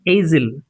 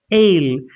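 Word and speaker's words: aisle: island and this is It's not asil, it's ale.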